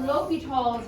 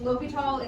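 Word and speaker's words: L'Hôpital: So we're going over L'Hopital's rule that can be pronounced a bunch of different ways. L'Hopital is how I was told to pronounce it. And that's how the guy who does the videos with your notes, that's how he pronounces it.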